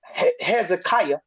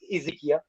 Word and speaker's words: Hezekiah: And this king, Hezekiah, as they said, but I like the way you said Ezekiel, but it's to the English speaking people, you might want to pronounce it this way so they'll all know who you're talking about.